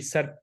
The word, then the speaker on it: SERP: ठीक है, ये सर्च SERP सर्प इसको बोलते हैं। आप लोगों को शायद इसकी वो जो प्रोनाउंसिएशन उसकी समझ ही ना आ रही हो। SERP सर्प फीचर्स। तो गूगल के ना सर्प